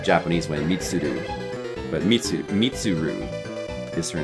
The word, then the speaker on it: Mitsuru: redhead girl who's the leader of the group initially, but she gives it to the her name is Mitsud.